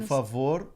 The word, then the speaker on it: favor: E a palavra favor, qual é a sílaba forte? Vor. A última. Vor. Vor, tá vor, certo. Tá certo. Favor, tá certo. Favor. Então, esse O, ele não pode mudar. A pronúncia é sempre O, não importa o sotaque, ele não pode ser pronunciado como U, porque é uma sílaba forte.